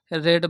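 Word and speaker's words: read: should का should be रेड बाय यू रीड और इसमें थर्ड फॉर्म स्पेलिंग सेम होता है लेकिन लेकिन इसको रेड पढ़ा जाता है तो बी रेड बाय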